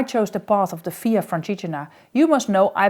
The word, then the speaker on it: Via Francigena: I just started the Via Francigena. With a puzzled look, her face broke open in a smile. She said, oh, you mean the Via Francigena, with the emphasis on the fra part.